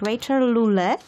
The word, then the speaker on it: Rachael Lule: Her name is Rachel Lule. Am I pronouncing this correct?